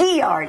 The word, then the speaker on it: Guillard: It's Gillard. It's a guillotine and a guillard. It's a It's French. It's French, you know.